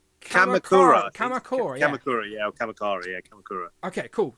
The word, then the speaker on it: Kamakura: Kamakura, yeah.